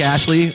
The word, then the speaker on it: Astley: Ashley, Rick Ashley. It's Astley. Aster. Rick Astley. Rick Ashley. Rick There's no Ast. Ash. It's Ast. There's Is it no AST? Spell it. A-S-T-L-E-Y.